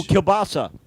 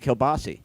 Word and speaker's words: kielbasa: Oh, kielbasa. Yeah, that's another sausage. Some people pronounce it kielbasi.